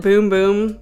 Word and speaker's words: Bum Bum: The inspiration for this lotion comes from the very popular Bum Bum cream. They pronounce it Boom Boom, but anyways, I'm not